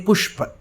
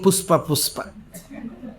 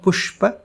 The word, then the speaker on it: പുഷ്പ: So he has to say pushpa, flower, and he is saying puspa. So one boy stood up and he said, is it not, sir, is it not pushpa?